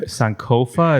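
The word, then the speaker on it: Sankofa: been I need to buy that book dude sanova is that how it's pronounced yes sir exactly yeah so sanova is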